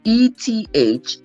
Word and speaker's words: Ethanim: And today we are learning that the 7th month, was Ethanim or Ethanim, however you want to pronounce it. It is Ethanim.